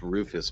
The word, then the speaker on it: Rufus: No, it's actually pronounced Rufus, by the way. Yeah, that's what we said. Rufus, like a roof on a house.